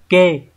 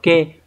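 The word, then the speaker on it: 気: Thì các bạn có chữ khí khi mà nó đứng ở đằng sau một từ như này thường nó sẽ đọc là kê. Đấy, nó sẽ thường đọc là kê và nó chỉ cái cảm giác, đúng nhỉ?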